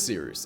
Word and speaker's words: Cyrus: My name is Seeroost. It's spelled like Cyrus, pronounced like Sea Rooster, just take out the terror.